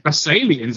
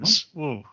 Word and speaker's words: Basileans: Basileans? Is that how we're saying? Basalians, I believe, is the official pronunciation. Basalians. I just think of the herb basil.